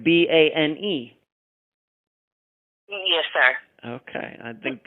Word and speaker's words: Boehm: Of course, little Joe's last name is Boehm, but it is pronounced Bane, correct? Like Bane.